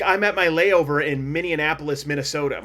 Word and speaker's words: Minneapolis: I think you put too many N's in it. I think Minneapolis- there's an extra syllable in there. Minneapolis?